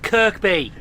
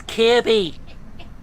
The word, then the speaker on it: Kirkby: This is me who says a railway station wrong. Like Kirkby. Yeah it's Kirby.